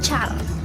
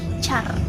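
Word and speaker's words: चार: Kalau di bahasa Hindi kita kenalnya sebagai Char. Tulisannya C H A A L. Char.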